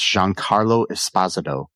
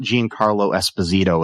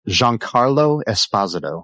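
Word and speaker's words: Giancarlo Esposito: McInley as Davis Rig Lanlow, Jean Carlo Espazado as Charlie Dunt, and I'm going to repeat that. That's Jean Carlo Espazado, not Jean Carlo Espazito as a lot of people want to say, but yeah.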